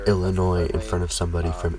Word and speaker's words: Illinois: I really gotta work on not pronouncing the S in Illinois in front of somebody from Illinois, because it's really starting to make me look dumb.